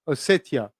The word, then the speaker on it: Ossetia: Pronounce T, then I. Ossetia.